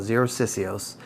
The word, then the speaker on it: Xerosicyos: to be talking about zeroc cios that name took me a little bit to figure out how to pronounce for a minute I thought it was kind of Spanish sounding but actually it's Greek um OS is uh